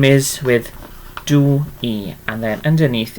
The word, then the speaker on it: dwi: say Meithrin dwi.